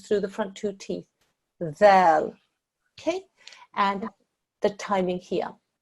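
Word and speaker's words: ذال: And that's a dhal, and it's pronounced like you would do the English word they. So the tongue goes between the tips, the tip of your tongue goes through the front two teeth. Dhal.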